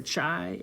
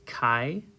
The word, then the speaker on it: chi: the name of the test this is not pronounced Chi or chai It's Chi Square for a goodness of fit and we'll